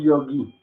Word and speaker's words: yogi: ¿Por qué no decimos, de hecho, la pronunciación un poquito más adecuada es yogi? Yogi. ¿Sí? Porque esta es la O corta y esta es la I con tilde.